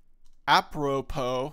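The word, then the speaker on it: apropos: and the the word appropo um and I think it has an S the S is silent um oh how is it it's um appropo so it's a p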